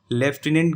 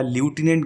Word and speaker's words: lieutenant: लेफ्टिनेंट governor या ल्यूटिनेंट governor बोलते हैं, स्पेलिंग होती है LIEUTENANT।